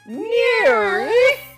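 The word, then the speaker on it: NIRYF: i r YF pod those are the letters for the name of the show and it's pronounced near I turned princess Bell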